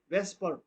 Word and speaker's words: VSEPR: electron pair repulsion theory this model is often abbreviated as vsapr pronounced va vesper vesper it is basically a